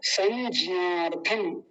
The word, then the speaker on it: संज्ञार्थम: कुछ लोग ज्ञ नहीं बोल के ज बोलते हैं, ज, केवल ज। अब मान लीजिए इसी को किसी को कहूं कि इसको बताइए क्या लिखा हुआ, तो पता है क्या कहेंगे? संज्ञा, संज्ञा, संज्ञा, ज्या। गलत है ये भी, ज्या नहीं, ज्या, य, य का उच्चारण होना चाहिए, ये वाला जो य होता है।